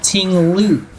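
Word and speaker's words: Ting-Lu: Mu Tingloo. See, it rhymes.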